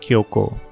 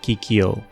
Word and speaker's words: Kyoko: Oh, her name is Kyoko, not Kyoko.